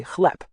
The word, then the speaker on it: chleb: The word for bread is spelled chleb, with a B at the end, but you actually say chleb, with a P sound.